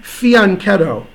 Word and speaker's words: fianchetto: beat that okay well fianchetto because I speak Italian it's beyond like fya n fee on keto that's the correct pronunciation so there you go